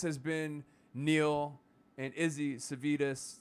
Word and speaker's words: Savides: This has been Neil and Izzy Savides, rhymes with Kiedis, Savides.